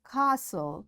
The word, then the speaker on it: castle: all know it passen castle or castle often whistle soften hasten bustle and gourmet. There are different words but in all these words T is silent.